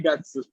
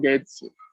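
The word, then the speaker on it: 月: El kanji que vemos al lado de 12, lo que sería diciembre, 12 gatsu. 12 gatsu 25 nichi desu. El kanji de mes es el gatsu o getsu.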